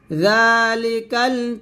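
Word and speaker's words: ذَٰلِكَ: তাহলে একসাথে পড়লে হবে জালি, জাল, জালটা পাতলা করে পড়বেন, জিহ্বার আগা সামনের উপরের 2 দাঁতের আগার সঙ্গে লাগিয়ে জালটা পাতলা করে উচ্চারণ করবেন। যালিকাল কিতাবু লা রাইবা ফিহি হুদাল লিল মুত্তাকিন।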